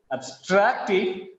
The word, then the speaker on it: abstracted: for the study is abstracted from the scientist's abstracts. You can clearly notice the change in the pronunciation in this example. Just because of the stress on abstracted, the first syllable ab becomes weak.